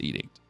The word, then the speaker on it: Edict: And I think it's pronounced Callan's Edict, not Addict.